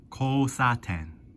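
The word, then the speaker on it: 交差点: So, this kanji here is called, or is pronounced, kousaten.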